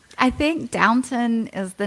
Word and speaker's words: Downton: Well, they do have the Downtown Abbey, and I love that. Not downtown. Yeah. Is it Downtown Abbey? Downtown Abbey. It's Downton. That's Downton. Oh, it's not downtown?